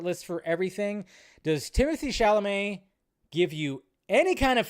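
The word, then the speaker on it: Chalamet: shamay that's right according to Ridley Scott Timothy shalamay was considered to play Lucius D said it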